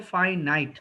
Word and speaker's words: finite: ওকে, উচ্চারণটা খুব ফাইনাইট।